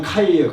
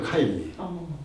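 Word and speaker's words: 开: 그걸 떼내 버렸어요 뼈네별이고 이거를 중국발은 뭐냐면 카이에요 카이 개발하면은 카이화 이렇게 발음하고 개발하는 거예요 그러니까 쟤들은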